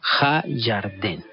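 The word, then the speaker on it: הירדן: El río Jordán en hebreo se dice Ha-Yarden. Ha-Yarden. Yarden. O sea, el río Jordán. ¿Sí? Así se llama, Ha-Yarden. Entonces, usted estando allá, pues puede preguntar dónde queda Ha-Yarden, y le van a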